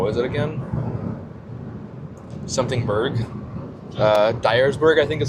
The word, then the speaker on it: Dyersburg: Dyersburg, I think is how you say it.